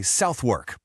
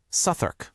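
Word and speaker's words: Southwark: Looking at it, your brain probably wants to say Southwork. Even our host admitted she got this one wrong for ages when she first moved there. But nope, it's just two quick syllables. Sur. That W and that O in the middle, they just sort of vanish. It's fast. It's efficient. It's very London.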